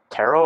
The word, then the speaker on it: tarot: I mean, I wouldn't mind doing a tarot or tarot. Do you pronounce the T? The T isn't pronounced. It's like okay, it's silent.